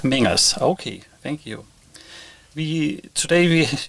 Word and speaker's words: Mengers: I don't know if I pronounce the last name correct. Maybe you. It's Mengers. Mengers.